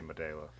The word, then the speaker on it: Modelo: more than I see my day with and that's how it is pronounced because an e is pronounced as an a in Spanish why are you getting